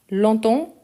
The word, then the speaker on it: longtemps: Donc je l'ai euh vous expliquer où longtemps. Longtemps attention parce qu'il on écrit tout ensemble. On ne prononce pas le G. Il y en a on ne prononce pas non plus le PS.